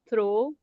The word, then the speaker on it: throw: Sir, just pronounce throw.